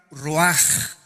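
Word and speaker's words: רוח: Esta palabra vientos es la palabra hebrea roach, que se pronuncia roaj. La CH en el hebreo se pronuncia como J, y que es la palabra espíritus.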